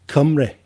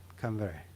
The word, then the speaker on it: Cymru: Cymru. It's pronounced Cymru. Come very. Yeah. And that's the Welsh word for Wales.